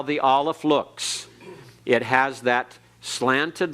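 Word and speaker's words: Aleph: for the ioan and this letter is silent it cannot be pronounced unless it has a vowel with it and in some cases it is absolutely silent it's in a letter or in a word rather it's any word and is absolutely silent it's there but is not pronounced at all so Allah is the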